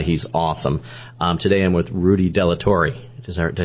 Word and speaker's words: Rudy Delatorre: Today I'm with Rudy Delatorre.